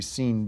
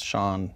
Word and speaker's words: Sean: b not a p well you mispronounced Sean so I think it's supposed to be seen Bean well no it's Shan let me see it well if it was sha it' be S H A WN yeah that's sha Bean